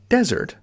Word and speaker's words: desert: So desert with a Z sound, Z, is dry, sandy land.